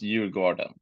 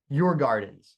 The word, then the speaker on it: Djurgården: and I'm I'm doing well U and it's pronounced your garden your Gardens but it's tough so so it's okay your